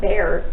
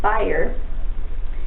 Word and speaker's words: Bayer: I always want to call it Bayer. It's Bayer.